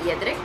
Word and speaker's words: Jedrek: Apparently it's pronounced Jedrek.